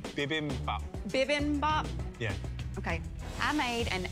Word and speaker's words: bibimbap: you tell me how to say it correctly bibimbap yeah okay i made an asian inspired shrimp and pineapple bibi bomb what is this here it's an asian ridiculous